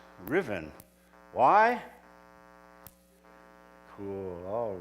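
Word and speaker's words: Ruthven: Robin is really sir Riven Murgatroyd in disguise by the way that name Riven it's spelled r-u-t-h-v-e-n Usman maybe but it's pronounced Riven why cool all right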